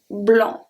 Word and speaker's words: blanc: So let's see the first one when the C at the end is preceded by N. In this case, it's not going to be pronounced. We have blanc, blanc, blanc.